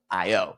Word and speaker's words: iyO: Okay, so the whole thing kicked off with an email from the founder of iyO, iyO, but I think it's pronounced io.